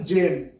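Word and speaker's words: gem: জ করবে ওকে যেমন জেম দেখো জি এর পরে কি আছে ই আছে তার জন্য এখানে গেম হলো না জেম হয়ে গেল জি ই এম জেম ওকে এরপরে যেটা আই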